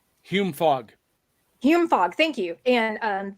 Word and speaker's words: Hume Fogg: She went to high school at I know I'm going to pronounce this wrong. Fogg Hume. Hume Fogg.